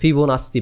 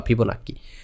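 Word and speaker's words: Fibonacci: আচ্ছা এখন হচ্ছে যেইটা বলতে চাইছিলাম, যে ফিবোনাচ্চি বা ফিবোনাক্কি, উচ্চারণটা বাংলায় ফিবোনাক্কি করে, অনেকে ফিবোনাচ্চিও বলে। So Italian mathematician ফিবোনাচ্চি, Leonardo সাদি ফিবোনাচ্চি মোস্ট প্রবলি ওনার পুরো নাম।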